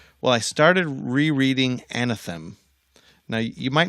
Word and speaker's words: Anathem: I started rereading and atham now you might not have noticed this is not anthem the iron Rand book by the way very similarly spell Anathem an extra syllable in there and you might not